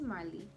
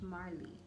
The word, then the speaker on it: Marlie: i introduce myself and i say my name is marley with an r you know the r is like the most important part my name is marley you know and people